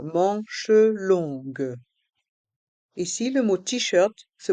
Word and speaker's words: longues: Ici, les lettres O et N se prononcent on et les lettres G et U se prononcent gue. Le U ne se prononce pas.